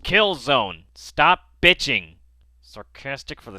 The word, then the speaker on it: Killzone: remove the hdcp I know it's pronounced Kill Zone stop bitching sarcastic for